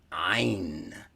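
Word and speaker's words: ع: And Ain literally refers to the eye, E-Y-E, Ain, from the back of the throat, Ain.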